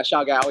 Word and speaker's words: Siargao: I don't know how you pronounce it. Siargao? Yeah, Siargao, yeah.